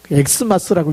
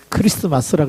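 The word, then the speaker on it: Xmas: 엑스마스라고 읽는 게 엄청 무식한 이름 거. 그걸 X라고 읽으면 안 됩니다. 크리스마스라고 읽어야 되는데, 이제 X라고 쓰니까 그 영어인 줄 알고 X, 그러면 뭐가 되냐?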